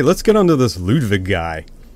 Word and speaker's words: Ludwig: get on to this Ludwig guy we have to pronounce these W's as V's it's a lot of